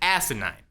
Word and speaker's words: asinine: And that's right, I said asinine, with an emphasis on the first syllable.